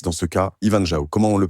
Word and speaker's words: Ivan Zhao: Ivanjao, comment on le prononce?